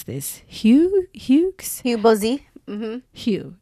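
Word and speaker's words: Hugues: about her friend, maybe you can help me pronounce this, Hugh. Hugs. Hubosi. Mhm. Hugh. It's just Hugh. Yeah. Huge. Yeah, it's Hugh.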